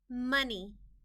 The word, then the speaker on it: money: Money, M-A-N-E, money. The O in this word is part of the word we need to remember by heart. The O is making a short U sound, money.